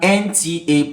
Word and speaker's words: NTA: Remember this starts with a consonant sound but the actual pronunciation starts with a vowel sound. The right pronunciation is n t a n t a nta.